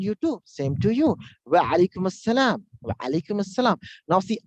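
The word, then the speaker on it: وعليكم السلام: Wa alaikum assalam. Wa alaikum assalam. Now see, Arab person and non-Arab person, how they say. The Arab person, wa alaikum assalam. Wa alaikum assalam.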